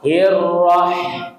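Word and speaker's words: الرحمن: bismillahirrahis Bismillahirrah hirrah hirrah nah ha-nya ditipiskan hirrah ha mengalir e rukhawa jadi ha hi hu ha hi hu ha hiu bah bah bah bah hirrah hirrahmanirrahimahmanirrahim tipis Bapak Ibu jadi beda. Jangan membaca bismillahirrahmanirrahim him itu salah. Jadi bedakan ha dengan ha ya bedakan ha dengan ha.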